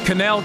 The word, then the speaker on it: Cannell: Canel Kennel. I always say it differently. You said it right. You said it right. Canel.